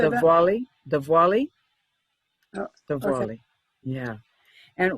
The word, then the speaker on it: Diwali: Diwali.